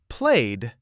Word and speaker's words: played: Played ends with du.